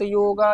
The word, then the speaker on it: योग: हमको यह समझना चाहिए पहले तो हम योग को योगा ना बोले कोशिश करें देखो योगा भी बोलेंगे तो अर्थ तो नहीं बदल जाएगा अर्थ तो वही रहेगा लेकिन फिर भी कोशिश करें हम लोग शुद्ध उच्चारण करें स्वस्थ रहिए मस्त रहिए